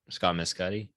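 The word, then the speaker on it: Scott Mescudi: I don't want to Scott Scott Mscotti. Scott Mscotti. Okay. Yeah, I was scared I was going to mispronounce it.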